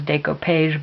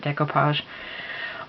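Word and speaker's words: découpage: Marikana that it says it looks like it says dayco page but I pronounce it decoupage but um so I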